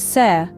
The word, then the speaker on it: ser: Our third word is ser. This is the Spanish verb to be. It's pronounced like sire.